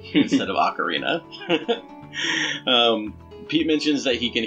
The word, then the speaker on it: Ocarina: From Legend of Zelda, Ocarina of Time, this is Gerudo Valley.